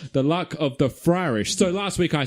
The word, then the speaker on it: Fryrish: Fryish. Yeah, I mean that pun doesn't make sense if you say it like that. So I'm not really sure where that confusion comes from. But yeah, Fryrish.